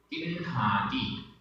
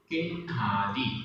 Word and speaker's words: किन्हादि: उच्चारण किन्हादि, किन्हादि, इसमें आधा अड़ा ह और बड़े आ की मात्रा है।